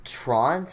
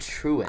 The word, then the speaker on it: Truant: It's pronounced Trant? I always said Truant. I pronounced it wrong.